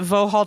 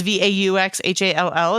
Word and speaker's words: Vauxhall: The Royal, I would pronounce it Vauxhall Tavern, but it's Vauxhall.